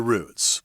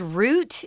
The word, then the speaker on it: route: Those are all the routes. We pronounce this word route in Taiwan, but you need to know that it's also pronounced route.